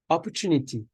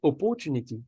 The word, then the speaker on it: opportunity: is it is develop opportunity we don't say opportunity we say opportunity and good words that